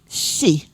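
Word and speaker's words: 四: number four because the they pronounce it as she four is she and and it's similar to the word death.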